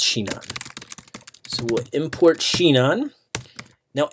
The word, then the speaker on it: Sinon: Sheena we're gonna import I've got its anon in the past but it's apparently pronounced Sheena so we'll import chignon